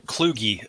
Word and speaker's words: Kluge: the only thing I would correct is it's pronounced as John W Kluge Fellowship uh it's it's not intuitive so I